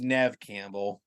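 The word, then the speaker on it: Neve Campbell: or I think you I think it's pronounced Nev Campbell oh is it actually Nev Campbell I mean yeah I believe yeah neev Campbell I think believe it's nev that's how I say it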